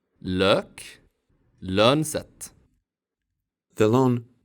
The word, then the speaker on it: lök: The long Swedish Ö is similar to the French Ö and German Ö. Its short form sounds like Ö. Lök.